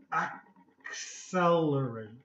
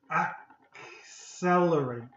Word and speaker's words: accelerate: So this CC, the first C is going to be a hard C, and the second C is going to be a soft C. So it's going to be k and s, okay? Accelerate, okay? It's very similar to almost an XL, okay?